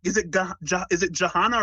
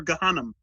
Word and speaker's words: Jahannam: Is it Jahannam or Gahannam? I think the way you pronounced it was probably more accurate. Some of them pronounce it with a J. Well, I think the way you pronounced it is probably closer to the actual Arabic pronunciation.